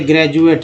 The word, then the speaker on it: graduate: जैसे ज का बोलेंगे, जैसे ग्रेजुएट है, GRADUATE, ग्रेजुएट में डी को ज बोला गया।